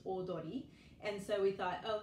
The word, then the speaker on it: Audrey: And Audrey in Japanese is pronounced Odori.